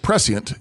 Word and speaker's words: prescient: We pronounce it prescient in English, but that's okay. It's shh there.